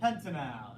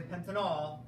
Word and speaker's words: pentanal: of this one p pentanal there you go Pentel okay again AL is my pal so that we don't say pentanol pentanol would be an alcohol pentanol would be that